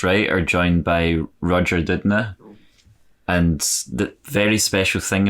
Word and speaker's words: Doudna: to indicate that my last name was actually pronounced Doudna. Oh, sorry. Even though it looks like a Doudna, but it actually is pronounced Doudna, at least by the Doudnas.